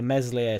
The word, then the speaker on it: Meslier: my point is the the meslier silent s haters saying that he's